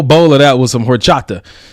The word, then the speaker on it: horchata: of that with some horchata we good go don't pronounce that H I'm black homie I don't want to unless until I'm adopted it's hor Chata we'll go with it